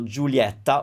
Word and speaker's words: Giulietta: you will learn that when you have the ie combination we tend to open up that sound so julietta would be probably more accurate than julietta but like i